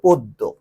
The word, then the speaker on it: পদ্য: এই জ ফলাটি যখন মাঝে বা শেষে বসে, তখন যে বর্ণের সাথে বসবে সেই বর্ণটাকে দুইবার করবে। হ্যাঁ, যেমন দেখো শেষে বসালাম, এটা কিন্তু পদ্য, তোমরা জানো দকে দুইবার নিতে হচ্ছে, পদ্য।